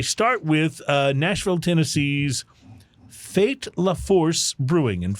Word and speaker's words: Fait: with uh Nashville Tennessee's fate laforce brewing and fate is spelled fait like fate comple but fate laforce